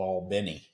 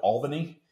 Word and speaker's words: Albany: in south georgia in a place called all benny it looks like it looks like it's spelled albany right it is but it's all benny that's already okay and